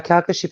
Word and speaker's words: Calcasieu: talking and we was all right I was Calcasieu is that how you say it yeah yeah Calcasieu Parish yeah Calcasieu Paris parachutes me it seemed